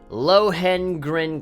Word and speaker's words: Lohengrin: Lohengrin Castle. There we go. That's how you pronounce it.